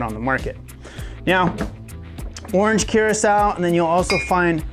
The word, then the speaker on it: Curaçao: It's not Curacao, it's Curaçao.